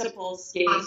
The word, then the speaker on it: Sapolsky: All right, so Sharon said that her husband and her watched 3 of Robert Sapolsky, is that how you pronounce his last name on the podcast? Sapolsky, yes.